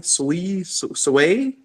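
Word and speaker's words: Sui: uh shardium sweet is that even how you pronounce it s-u-y sway sway um and there's a few other ones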